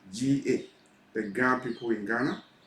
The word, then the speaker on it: Ga: Ga, G-A, the Ga people in Ghana.